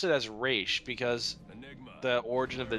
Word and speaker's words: Ra's: and everything like that, it's Ra's, pronounced Raish. yeah, Ra's is the appropriate way of saying it. I mean, even if you say it as Ross, you're not technically wrong. It's spelled that way. You could always say that, but you could say there's like that little line on top of the A that gives it the Aish part.